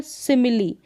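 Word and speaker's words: simile: लेकिन कुछ गिने चुने शब्दों में कुछ स्पेलिंग्स है वहाँ पर ई का उच्चारण ई होता है। जैसे कि यहाँ पर देखें रेसिपी, क्या है, रेसिपी, इसका उच्चारण यहाँ पर है। तो यहाँ पर रेसिपी में ई का उच्चारण हो रहा है।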